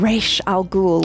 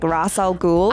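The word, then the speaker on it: Ra's al Ghul: this a discovery of re Al goul which I guess in the uh in the Christopher Nolan Batman they probably said his name wrong cuz they were like rasal ghoul I didn't even I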